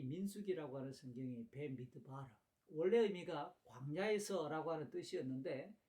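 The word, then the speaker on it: במדבר: 원래 구약 히브리 성경의 네 번째 모세오경에 속한 이 민수기의 원래 발음은 조금 전에도 설명했듯이 벤미드바르라고 읽습니다.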